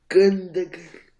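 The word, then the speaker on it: Gündoğan: It might, but they've got in midfield they've got Phil Foden, Ilkay Gundogan, I can never pronounce his name. Gundogan.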